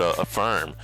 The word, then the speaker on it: Affirm: I was going to say Affirm. I was pronouncing her like Asana, but Affirm.